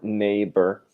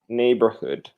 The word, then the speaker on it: neighbor: not want absolutely no gh silent in English generally speaking nader neighborhood you know so my